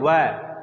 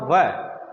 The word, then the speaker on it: व: की बारी अब देखिए जब हम व बोलते हैं ना तो क्या होता है कि ऊपर का दांत और नीचे का होट आपस में मिलते हैं तब जाकर व का उच्चारण होता है शुद्ध व का उच्चारण होता है बोलने के लिए तो हम बोल देते हैं व परंतु गलत है उच्चारण सही क्या होगा व वृक्ष आई बात समझ में